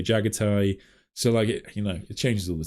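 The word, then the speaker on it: Jaghatai: I think Jagati is said, then Games Workshop officially say Jagatai.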